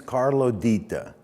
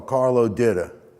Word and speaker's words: Carlo Ditta: My name is Carlo Ditta. That's the correct Sicilian pronunciation.